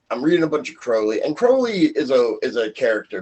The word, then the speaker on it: Crowley: He has a rhyme. It's my name is Crowley because I'm holy. My friends call me Crowley because I am holy.